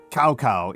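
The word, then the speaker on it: Cao Cao: pronounce salsa and they didn't learn how to pronounce Joe. Like he's just a man of two cows. Uh cowcow is the uh probably most important single leader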